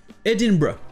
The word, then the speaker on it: Edinburgh: deux prononcés barras edinburg donc en anglais britannique se prononce edinburgh et en anglais américains se prononcent edinburg donc voilà pour cet